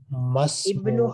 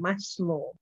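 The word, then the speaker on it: مَا اسْمُ: When it is not at the beginning of the sentence, it becomes silent.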